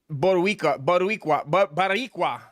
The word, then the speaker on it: Boricua: It's actually spelled B-O-R. So there's an R in there. You got to roll your R's right there. You got to roll your tongue.